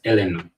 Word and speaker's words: Illinois: So, you don't add the S to it, so it's Illinois.